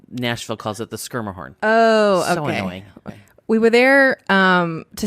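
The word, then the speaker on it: Schermerhorn: when we were at the skirmish and uh schumer horn i don't know anyway horn is the correct pronunciation nashville calls it the skirma horn we were there um to see susan egan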